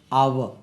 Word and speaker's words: hour: ஏன்னா ஹெச் உச்சரிக்காது, இதனுடைய உச்சரிப்பு அவர். அவர் இரு உச்சரியோட அவர், அவர், அவர், அன் அவர். அப்போ ஏன்னா இதை ஹெச் உச்சரிக்காது. இதை பார்த்தா ஏ ஹவர் சொல்லிடக்கூடாது.